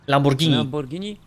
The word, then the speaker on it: Lamborghini: lamborghini właśnie tak to nazywam się w ogóle wymawia lamborghini piękny piękny piękny 2008 rok stary teraz ja